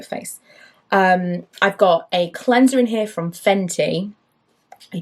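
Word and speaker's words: Total Cleans'r: pronunciation i called it cleanser hunter that's what it says total clean s apostrophe r it's like cleanser but the the apostrophe is where the e would be cleanser are we pronouncing that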